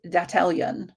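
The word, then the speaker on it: Dattalion: They formed an organization called Dattelyan, meant to rhyme with battalion, but with data as its core.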